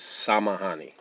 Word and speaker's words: samahani: Excuse me is samahani. Samahani. Samahani is spelled Samahani.